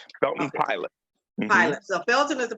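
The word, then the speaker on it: Pilate: name is shelton palate it sounds like p-i-l-o-t but it's spelled p-i-l-l-a-t-e belton pilot pilot so felton is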